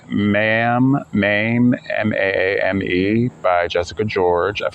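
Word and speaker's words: Maame: Oh, here we go, pronunciation. Mame. Okay, let's start over then. Mame by Jessica George. Mame has many meanings in Twi, but in my case, it means woman.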